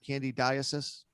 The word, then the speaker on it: candidiasis: Of course, I'm talking about candidiasis. I say it right? Candidiasis.